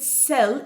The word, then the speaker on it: cell: نخلي بالنا ان كلمة cell السي هنا اتنطقت س. اوكي؟ علشان في بعدها اي. لما السي بيجي بعدها اي بتتنطق س.